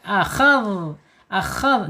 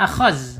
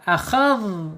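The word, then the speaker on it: أخذ: Akhadh, jangan akhaz.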